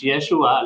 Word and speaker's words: Yeshua: sa mga hindi nakakaalam in Greek word na nahihirapan po mag-pronounce ng ah mga Greek sa meron silang difficulty sa pagsalita ng SNH H. So hindi nila mabanggit yung Yeshua kaya ang translate nila doon is Yesus.